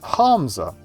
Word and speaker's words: Hamza: Or Hamza, so. No, Hamza. The second H is implied, different twist on the syllable.